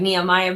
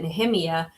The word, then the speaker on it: Nehemiah: And Nehemiah Gordon, it looks like Nehemiah, but he pronounces it Nehemiah.